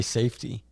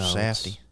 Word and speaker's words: Safdie: The fuck is a Safdie? Just say safety. Just say it right. Oh, no, Safdie.